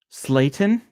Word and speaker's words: Slayton: in the nuts who else turds turds turds Slayton rhymes with seitan not sure why I said that